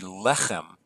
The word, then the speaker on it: lechem: This should be lechem.